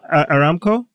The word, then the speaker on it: Aramco: Like the valuation, they're going to privatize, pronouncing it right? Aramco? Right. Yeah, Aramco. Aramco.